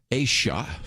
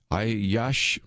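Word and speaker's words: Aiyash: state representative elect abraham asha i think is how you say i yash i yeah she probably is better way to say it in which he actually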